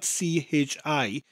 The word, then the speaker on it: chi: And chi sounds very similar to the word key, but that CH sound, because it's spelt CHI, chi, sounds like the end of the word loch, as in Loch Ness. So say the word key, but with that CH sound in front of it.